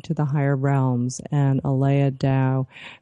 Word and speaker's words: Aleya: And Aleya, let's talk a little bit about how people can reach you and get, get your book.